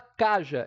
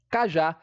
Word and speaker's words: cajá: A gente não fala caja e sim cajá.